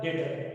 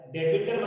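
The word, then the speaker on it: debtor: देनदार क्या हो गया, डेटर। बी साइलेंट है, डेबिटर मत बोलना, बी साइलेंट है, ठीक है।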